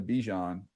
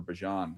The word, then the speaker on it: Bijan: To me, he is in the Bijan or Bijan as we're pronouncing it now, the Bijan category.